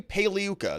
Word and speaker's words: Pagliuca: Maxwell's defense lawyer Jeffrey paliuka the g is silent like lasagna and uh mixed reactions